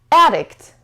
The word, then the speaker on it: addict: a piece of cake addict addict addict this so it has two syllables and the stresses on the second so the first level